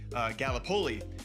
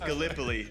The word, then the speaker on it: Gallipoli: because being from Iowa, I said Gallipoli, and it is pronounced Gallipoli.